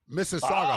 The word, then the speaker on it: Mississauga: So our continuing of not being around Mississauga that’s Mississauga.